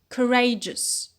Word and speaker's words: courageous: carriage carriage it becomes courageous courageous so we notice a shift in the stress and a change in vowel quality uh from car to cool and from re to ray